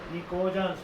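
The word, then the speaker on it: pnicogens: What are nicogens? P is silent here.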